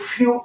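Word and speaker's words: few: से आपने देखा कि आसानी से शब्दों का उच्चारण कर पाते हैं तो डी ई डब्लू ड्यू ड्यू से ओस एफ ई डब्लू फ्यू फ्यू से अल्प एस ई डब्लू से सू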